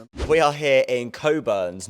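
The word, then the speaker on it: Cockburn's: Uh if I'm not mistaken the one of the old slogans of Coburns like in the 1960s or 70s just used be like pronounce responsibly because people were mispronouncing the names. Uh but yeah it's it's Coburns not cockburns.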